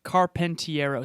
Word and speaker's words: Carpentiero: carpentiero carpentiero pronounced his name yeah i can spell it if you want me to but c-a-r-p you do it okay carpentiero so as it sounds period carpentiero c-a-r-p-e-n-t-i